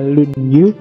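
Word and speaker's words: 论语: julnya dasu yang kedua lunyu bacanya misah ya kalau disambung jadi lunyu y kalau lunyu licin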